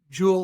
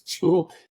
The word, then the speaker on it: Jewel: So in Mexico, it's hard to pronounce Jewel. The J is tough. It becomes like well, so something like that.